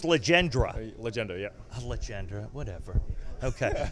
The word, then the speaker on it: Legendre: It's Legendre.